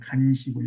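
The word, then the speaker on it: 乾屎橛: 간시골, 여기 나와 있죠. 마른 똥막대기. 한자는요, 우리 건조대 할 때, 빨래 건조대 할 때 건자예요. 우리는 간자인데 이렇게 잘못 우리가 발음을 한답니다. 원래는 말을 간자, 드라이, 말을 간자입니다.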